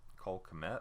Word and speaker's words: Kmet: Or Cole Kmet, I think it's how you say it, maybe Cole Met, the K may be silent, at Notre Dame, 43 receptions, 515 yards, 12 an average, and 6 touchdowns.